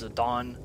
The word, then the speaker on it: Zidane: So I'm gonna keep all the names the same, and I will be pronouncing his name as Zidane, because in the city of Final Fantasy, that's how it's pronounced, and since it's the